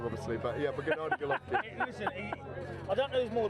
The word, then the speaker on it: Gennady Golovkin: Gennady Golovkin, I said it wrong obviously, but yeah, but Gennady Golovkin.